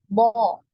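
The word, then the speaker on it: ض: Sehingga suara yang kita hasilkan ketika pengucapan huruf bo ini tebal. Ya, bo.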